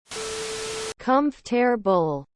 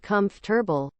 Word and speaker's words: comfortable: always will be are there any words you pronounce differently from your peers edit I'm from Southeast Texas for context com terb edit why is this getting so many up